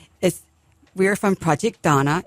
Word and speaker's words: Dana: we are from Project Donna. It's spelled D A N A, but it's pronounced Donna like the girl's name. Not Dana, but Donna.